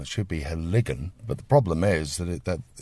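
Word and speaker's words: Heligan: So they put the stress on the first syllable, and they'll say Helligan. Of course, it's wrong. It should be Helligan.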